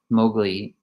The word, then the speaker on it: Mowgli: So Mowgli, that's how you say it, Mowgli speaks up and says to him, finally asks, like, what is this?